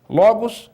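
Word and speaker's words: λόγος: Logos é a palavra. Olha onde está o acento. Logos, né? Está na penúltima sílaba.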